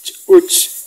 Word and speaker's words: ch'uch: Ch'uch, fíjense el saltito de la CH con el apóstrofe. Ch'uch, ch'uch, es como parar el sonido.